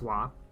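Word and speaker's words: は: I know that's the ha character, but it's wa. It's pronounced wa.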